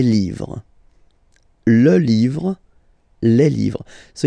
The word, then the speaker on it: livres: and then same rule, you just write livre, and then you put S at the end, but then you don't pronounce it, les livres.